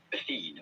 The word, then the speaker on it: Athene: Athene, yeah.